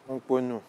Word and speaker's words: Unponou: Sinon, la bonne prononciation, c'est Unponou. Hongponou.